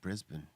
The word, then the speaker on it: Brisbane: Hey, he said it right. He said Brisbane. Brisbane, Not man.